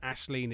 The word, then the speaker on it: Aisling: And Ashleen is Aisling.